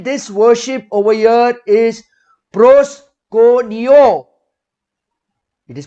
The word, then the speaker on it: proskuneo: Now again, this worship over here is PROSKUNEO. It is pronounced as proskuneo and spelt as PROSKUNEO.